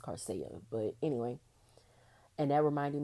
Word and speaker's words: Coursera: I kept pronouncing it as Corsia, but I was told it's pronounced Carcia.